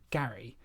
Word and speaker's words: Gerry: I think like the throughout history the pronun pronunciation of of his name changed so he pronounced it Gary but now we say